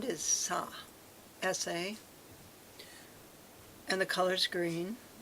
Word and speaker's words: sa: to the karma family, and the sound is sa, S-A, and the color's green.